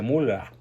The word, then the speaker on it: Müller: O peor aún, a su esposa, a la tal Beatriz Gutiérrez Mula, como le llamo yo, porque, bueno, bien pronunciado el Müller se dice mula, ¿no?